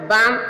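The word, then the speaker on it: bomb: बाम, बाम means बम, बम यहाँ देखा एम के बाद जो बी आया है वह बी साइलेंट है।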